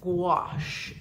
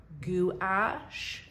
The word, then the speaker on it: gouache: Now this is gouache. It looks like it's spelled gouache, G-O-U-C-H-E. Gouache.